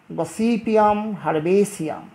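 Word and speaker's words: Gossypium herbaceum: কার্পাস, গসিপিয়াম হারবেসিয়াম, গসিপিয়াম হারবেসিয়াম।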